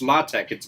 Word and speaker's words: LaTeX: And no, it's LaTeX. It's pronounced LaTeX. It's spelled latex.